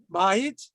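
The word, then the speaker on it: בַּיִת: Notice these 2 words, Bayit, Bayit, and Beit. I did a very good job there. They're the same letters, right? Bet, Yud, Tav. This is pronounced Bayit, which means a house.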